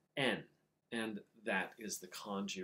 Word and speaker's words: 円: In Japanese, their currency is actually pronounced en, and that is the kanji right there.